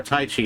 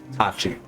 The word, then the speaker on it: Tachi: None of them are as good as our Tai Chi yet because we need to level them still. Tachi. Tachi, thank you. I do keep saying it wrong.